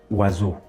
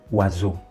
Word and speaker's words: oiseau: I'm pronouncing the S as Z because S is found in between two vowels.